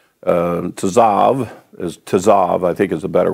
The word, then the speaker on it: Tzav: And this Torah portion is pronounced Tzav. Tzav, I think, is a better way to say it.